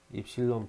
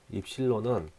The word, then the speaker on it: 입실론: F 4파이 입실론 분의 1 곱하기 R의 제곱분의 Q1 곱하기 Q2만큼의 힘이 나타나는데요. 이때 단위는 N이라고 쓰고 뉴턴이라고 있습니다. 뉴턴. 이렇게 써진 기호 보고 저희는 이제부터 입실론이라고 읽을 거고요.